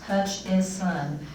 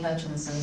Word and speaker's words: Hutchison: There is no N in the middle of my name. It's Hutch is son.